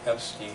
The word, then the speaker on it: Epstein: to relativity given by guys whose name rhymes with Einstein. This is Epstein, a professor emeritus now at City College of San Francisco.